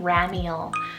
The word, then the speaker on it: Ramiel: i have another hebrew option it's the name ramiel it's all r-a-m-i-e-l-ramuel and this one means the